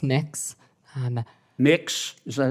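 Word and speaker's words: Mx.: what you're you're proposing it's pronounced mix um mix is that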